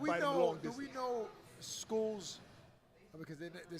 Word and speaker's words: Scull: Do we know school's because they're saying it's it's pronounced school, not skull, right?